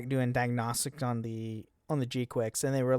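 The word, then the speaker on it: G-Quuuuuux: Yeah, and then if you pre-register for the game, you will get the G-Quicks, which, by the way, is how you actually pronounce it.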